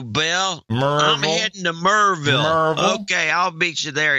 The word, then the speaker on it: Maryville: Michael Delosier from Maryville. Merville. Let me get that right, too. Michael Delosier from Merville, Tennessee. Hey, Merville, where you going to, Bill? Merville. I'm heading to Merville.